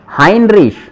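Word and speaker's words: Heinrich: हा वी हावी हेमरिश, हाइनरिश। हेनरिश। देखो, अपन ने पढ़ा है कि ए और ई का कॉम्बिनेशन आई का साउंड देगा, अपने इंपॉर्टेंट रेगल के अंदर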